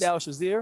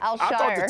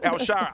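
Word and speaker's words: Al-Shaair: Azeez Al-Shazir. Al-Shazir had a phenomenal game. Al-Shire. Al-Shire. I said it wrong. Al-Shire.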